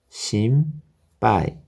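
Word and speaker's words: 心配: 시까시거나 우유로스 바이러스가 신발 여기서 응 발음은 위험 발음이 되겠습니다 그래서 심빠이 심빠이다 깔아 바이러스가 걱정이다 바이러스가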